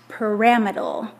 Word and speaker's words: pyramidal: So this would be pronounced pyramidal.